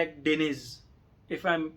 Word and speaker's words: Akdeniz: गया और ये चौथी है एडकिनिस। ठीक है, एक्डेनिज, सॉरी एक्डेनिज।